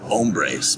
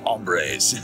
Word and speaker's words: hombres: But of course, I think the correct pronunciation in Spanish is like hombres, but here we sort of Californianize everything, so it's hombres.